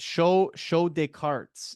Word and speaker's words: Show de Cartes: I should also mention right off the hop that you are part of is it Show des Cartes is how you pronounce it, right?